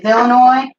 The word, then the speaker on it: Illinois: Yes, my name is Illinois, and I need one airline ticket to, Illinois. No, the S is silent.